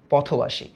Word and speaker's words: পথবাসী: পথবাসী, এটার উচ্চারণটা হচ্ছে পথ, পথ, তারপর হচ্ছে বা, তারপর হচ্ছে সি, পথবাসী।